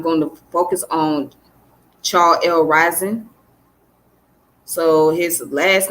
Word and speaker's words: Reason: today i am going to focus on charles rising so his last name is pronounced as ryzen okay uh he was of a haitian descent